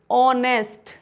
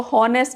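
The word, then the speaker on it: honest: हो रहा है तो वो वहां पे एच साइलेंट होता है। फॉर एग्जांपल ऑनेस्ट एच नहीं पढ़ेंगे। इसको हॉनेस्ट नहीं पढ़ेंगे।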